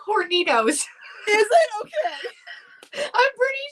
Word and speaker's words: Hornitos: calls it this every time because she can't pronounce it. So all I know is she calls it horny toad tequila. I knew it's Hornitos.